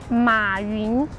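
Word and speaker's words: 马云: SISI: Jack Ma in Chinese is Ma Yun. LUCAS: Ma Yun.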